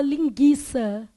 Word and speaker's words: linguiça: tivesse uma palavra tipo linguiça beleza na palavra linguiça eu tenho lim isso aqui é dígrafo depois eu tenho Gui todo mundo tá vendo que o u é pronunciado ou você fala linguiça fala não então u